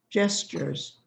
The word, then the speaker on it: gestures: said that word right it's not a hard g it's a soft g gestures yes sure yes so you can know that it's going to be a soft g by the letter that comes after it if it's e or i it will be j if it's a o